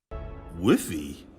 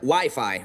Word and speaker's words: Wi-Fi: Whiffy? Or wifey? Well, it's either wiffle ball or an arranged marriage game. It's actually pronounced Wi-Fi, Ralph.